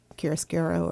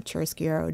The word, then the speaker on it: chiaroscuro: I usually like to do shading after the fact, like kind of a chiaroscuro or chiaroscuro, depending on, you know, how you say it, depending on what country you're from.